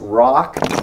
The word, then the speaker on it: Roch: the Diamond Rock okay it's called Roch that's pronounced Rock and we'll give you a little background on